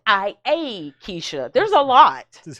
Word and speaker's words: Keisha: the k e y s h i a kisha there's a lot this is hood scrabble yeah